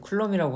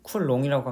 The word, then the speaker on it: coulomb: 다룬다고 합니다 어쨌든이 단이 쿨롱은 영어로는 쿨럼이라고 하는데 저희가 보통 발음할 때는 쿨롱이라고 합니다 왜냐면은이 과학자가 영어권 사람이 아니라 프랑스 과학자이기 때문에 프랑스의 원 발음을 존중해서 쿨롱으로 읽습니다 그리고이 쿨롱은 쿨롱의 법칙을